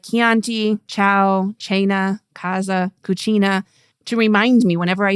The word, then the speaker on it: cucina: or u it becomes a k sound again. Okay. So, that's the rule there. So, it becomes casa, home, cosa, thing, or cucina, kitchen.